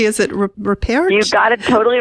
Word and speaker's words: Ripert: I never can pronounce his name correctly. Is it Ripert? You got it totally right. It's Eric Ripert.